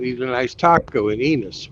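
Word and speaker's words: Ennis: Hopefully, I can eat a nice taco in Enos, which rhymes with penis.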